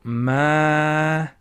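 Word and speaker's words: مالك: Now because of this alif, we're going to have to stretch the ma. So let's stretch it then. So maliki.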